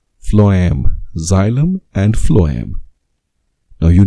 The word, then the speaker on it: phloem: and what is that one phloem that's right phloem xylem and phloem now you know how to pronounce that so where do you find that